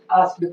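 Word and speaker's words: asked: जैसे आपने देखा कि आस्क में ईडी से समाप्त होता है, ये वर्ड ईडी से समाप्त होता है, इसलिए इस ई का उच्चारण नहीं होता है, आस्क्ड पढ़ा जाता है।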